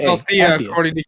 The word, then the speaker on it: Athia: There's no L. It's A-T-H-I-A. It's pronounced Althea, according to Gary Whitta.